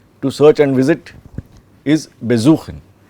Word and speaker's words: besuchen: Besuchen. Suchen is to search. Suchen is to search. To search and visit is besuchen. The be is not stressed, it is the suchen that is stressed.